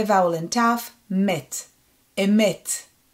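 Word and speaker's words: אמת: Emet. E, Met means truth. And the last one, we have the silent letter Ayin and A vowel and Mem Sofit.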